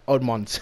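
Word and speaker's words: Terrell Edmunds: Edmonds.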